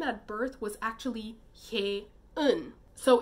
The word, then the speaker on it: Hye-eun: murdered girl, her name at birth was actually Hae-un.